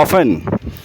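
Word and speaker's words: often: जाता हूं तो उसको ऑफेन नहीं कहते टी साइलेंट इसे बोलते हैं ऑफेन ऑफेन ऑफेन मींस अक्सर ऑफेन फिर आता है आपका अलमारी के लिए बहुत कहते हैं कबर्ड।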